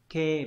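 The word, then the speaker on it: 啓: Âm môn đọc là kê, ví dụ từ hai kê là bái khải, là kính gửi, kính thư này.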